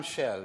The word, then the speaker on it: Kjell: And it's spelled Kjell. Many of you know exactly how you should pronounce this oil company, Shell. So I'm Shell, you know.